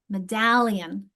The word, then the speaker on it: medallion: Medallion, where's my stress? Medallion, it's in the second syllable, isn't it?